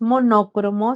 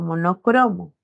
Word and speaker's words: monocromo: Rodrigo no lleva tilde la primera palabra no es monócromo sino monocromo por lo tanto no llevar a tilde no es una esdrújula sino es una grave no O no cromo